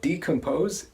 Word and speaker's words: decompose: way so we're talking about organic matter the pronunciation of decompose is as I said decomposed we stress that